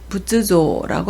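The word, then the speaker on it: 仏像: 불상을 부쯔조라고 하고요. 한 개 있을 때는 호토케라고 읽어서 부처나 석가를 나타냅니다.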